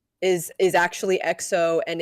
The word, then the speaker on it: EXO: It's EXO.